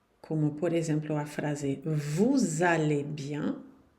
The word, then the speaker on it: vous allez: por exemplo a frase vous allez bien, aqui esse S você vai ter que pronunciar ele e ele vai ter no som de Z.